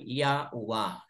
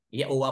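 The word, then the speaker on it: Yahweh: he UA Hey or kung ating bigkasin po yaua yaua po ang ama na ang iba binabanggit nila as kaha po but tayo dito ah we're we we would like to pronounce His name Uh reflected sa ancient po ay yaua talaga mga kapatid yaua po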